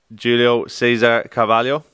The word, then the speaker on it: Julio Cesar Carvalho: i've been here but i'm here with uh julio cesar cavallo is that is that that's the perfect pronunciation for it but julio last time i